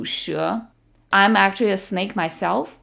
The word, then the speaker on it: 蛇: And the word for snake is 蛇, 蛇. Even though it looks like she in English, don't be tempted to pronounce it as she. It's 蛇.